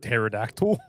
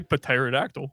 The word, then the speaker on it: pterodactyl: What, pterodactyl? Yeah, there's a P there. You don't say pterodactyl.